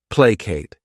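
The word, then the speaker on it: placate: next verb is plate this word has two syllables and the stress is on that first syllable plate what it means is to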